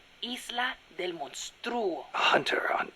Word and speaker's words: Isla del Monstruo: He even said he once went to a place called Isla del Monstruo. A hunter on Isla del Monstruo.